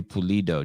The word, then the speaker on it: Pulido: Corey Pulido, just like it sounds. Am I pronouncing your last name right?